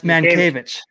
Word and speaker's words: Mientkiewicz: That's Mankiewicz. I actually weirdly know how to pronounce that name.